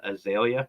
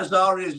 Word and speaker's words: Azaria: But apparently Lindsay calls Azaria Azalea for some reason. Called what? Azalea? Just has a name wrong. Oh, yes, cool. Nobody could get Azaria's name right.